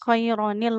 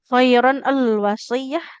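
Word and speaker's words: خيرا الوصية: Kenapa jadi khaironil? Ya tadi kan ee karena nun sukun ketemu lam sukun kan enggak bisa bunyinya. Nanti gimana? Kiron al wasiah kan enggak mungkin kita bacanya seperti itu ya.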